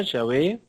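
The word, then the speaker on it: Yahweh: básico estábamos viendo Jehová Ya ve la pronunciación exacta parece que los samaritanos son los que tienen la más antigua y mejor que es y ave los judíos ya lo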